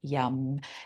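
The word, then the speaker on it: Yam: one long yum so it's spelled y m but we say yum and that's the sound associated with the heart so inhale to prepare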